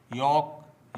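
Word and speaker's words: yolk: काम काम palm palm half half वाक वाक talk talk योक योक आमज आम बाम बाम काफ काफ चौक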